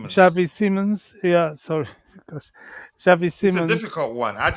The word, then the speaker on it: Xavi Simons: And the um the deal for uh um Javi Gerald Gerald Sim Se Simmons um Shavei Simmons. Shavei Simmons.